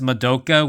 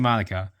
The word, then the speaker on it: Madoka: Some people pronounce it as Madoka, which is understandable when you first see it, but it's actually Madoka.